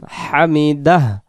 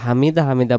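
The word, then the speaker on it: حمده: দ আকার দা হামিদা শেষে একটা হ দিলে যেমন আমরা উচ্চারণটা বলি হামিদাহ এরকম করে শব্দটা বলতে হবে আর যদি হামিদা হামিদা পড়ি এই হ অক্ষরটা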